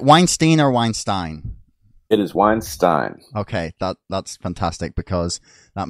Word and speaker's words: Weinstein: Most people pronounce it incorrectly, but it is definitely Weinstein.